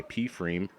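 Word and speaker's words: pFriem: I really like P Freem a lot. It's one of my favorite breweries. You actually told me how to pronounce that. I always thought it was Freem.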